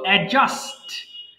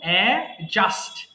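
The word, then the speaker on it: adjust: করে দিচ্ছি এরপরে বলতো এডজাস্ট জাস্ট না এখানে ডি এর উচ্চারণটা সাইলেন্ট থাকবে আমরা বলবো এডজাস্ট এডজাস্ট মানিয়ে নেওয়া বলেন যে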